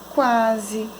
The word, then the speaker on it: quase: Quando o conjunto QU é seguido da vogal A, o som que é representado pela letra U é pronunciado. Exemplos: quarto, quando, quase. Então, eu falo U, a vogal U.